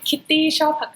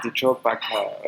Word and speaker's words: Kitty Chopaka: So am I pronouncing your name Yes. in a correct way? Kitty Chopaka. Kitty Chopaka.